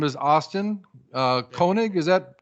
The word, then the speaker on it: Koenig: His name is Austin Koenig. Is that correct? How I pronounce your name?